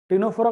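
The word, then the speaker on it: Ctenophora: टिनोफोरा का सी हम यहाँ पे ले रहे हैं, भले वो साइलेंट है।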